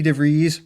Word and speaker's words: DeVries: my star fun partner vicky devries rhymes with cheese all about our journey